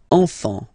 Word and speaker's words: enfant: You don't pronounce the S.